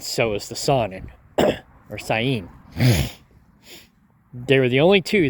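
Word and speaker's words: Saanen: the Sun and or the proper way to pronounce it is cyan uh I guess that's what I was told the sonen or cyan and the Nubian were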